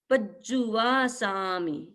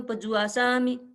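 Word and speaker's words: पज्जुवासामि: यं देवय चे यं फिर है पज्जू वा सामि पज्जू वा सामि पज जुवा सा उच्चारण करते सम पजवा साम पजवा साम पजवा सामी ऐसे नहीं है आप थोड़ा सा ध्यान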